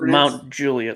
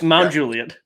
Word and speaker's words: Mount Juliet: mountain juliet road right pronounced mount juliet let me just stop you right there real quick i don't know there's juliet we're not talking about shakespeare homie it's mount juliet i don't even know